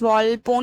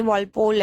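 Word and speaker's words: Walpole: novelist है Horace वल्पो Horace वाल्पोन नहीं वल पोल है स्पेलिंग गलत है यहां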